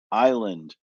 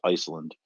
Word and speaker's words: Iceland: dementia I am Island which I believe is called pronounced Iceland uh Hearts Alive and